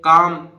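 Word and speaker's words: calm: के से पहले था ये एम से पहले काम काम माने शांत इसी तरह पाम ये पाल्म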